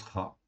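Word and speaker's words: רע: Donc le mot en fait ra, ok, ça s'écrit comme ceci, resh aïn, et ça se prononce ra.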